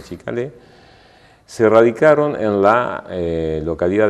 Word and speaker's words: Ciccale: Se escriben Cicalé, no con C, pero se pronuncian Chicalé, se radicaron en la